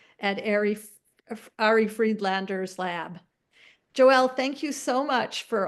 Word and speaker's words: Joëlle: job in at saying my name so it's Joel de um my last name is actually like